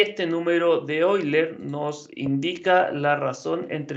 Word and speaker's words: Euler: aquí voy a decir voy a tener cuidado para pronunciar los nombres de los científico correctamente el número de hoy leer está bautizado en ahora leonhard euler de quien probablemente han